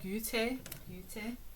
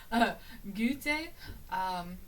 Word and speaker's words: Goethe: As old, Goethe is how I'm gonna say it. I looked up how to pronounce this because I was getting frustrated. Goethe.